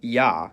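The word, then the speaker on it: я: It's called ya, and as its name suggests, in most cases, it sounds like ya.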